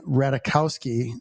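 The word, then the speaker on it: Ratajkowski: So, we're talking about Emily Ratikowski. Rahul told me you don't pronounce the J.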